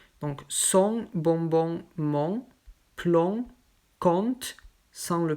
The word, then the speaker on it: compte: ici c'est ont donc son bonbon mon club compte cent le p se prononcent pas compote il ya évidemment les exceptions